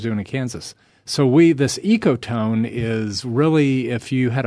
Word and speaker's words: ecotone: There's also one I'm not quite familiar with, ecotone forestry.